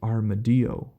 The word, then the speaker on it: armadillo: But in the case of armadillo being a Spanish word, I assume that it is actually pronounced armadillo. It's possible it being armadillo, because we see the double L makes a Y sound in Spanish, like tortilla.